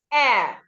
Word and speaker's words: heir: Air, when you say he is the heir apparent, it's not hair, it is air. The H is silent.